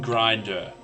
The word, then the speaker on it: Grinder: John Grinder. John. Yeah. Yeah, okay, cool. So I am saying it right. Like the app, Grinder.